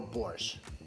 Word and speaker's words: borscht: When you It's ask either for soup or borscht.